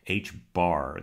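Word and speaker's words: h̄: And I'm subtracting h bar. That line over the h is pronounced bar in mathematics. It's like a flat hat on top of the H, and that indicates almost always an average.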